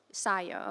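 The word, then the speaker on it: Sajó: Sio.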